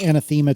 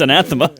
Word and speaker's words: anathema: know this is like this anema to you or however you pronounce the word but um I think I think it's anathema anatha there we go sorry um it's